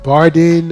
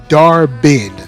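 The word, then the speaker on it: Dar-Benn: Like, what is it, Bardin or Dinbar? I can't remember her name. Sorry, I'll pronounce it right. It was Darbin. Sorry, Darbin.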